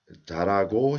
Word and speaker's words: 잘하고: So 잘하고 싶어요. I want to be good at. So how did I pronounce? 잘하고 싶어요. When le meets her, this her is omitted. So 잘하고 싶어요.